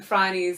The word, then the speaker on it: Phryne: I just heard it was originally called Phryne Fisher, but no one knew how to pronounce Phryne. I did try and encourage these guys to just write the word fry and knee underneath.